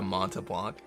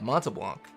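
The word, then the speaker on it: Montblanc: What in the is a Montablanc? That's how you say it. Montablanc.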